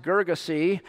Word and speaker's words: Gerasenes: at a place called the garrisons it's sometimes pronounced gergese it has several spellings but it's actually part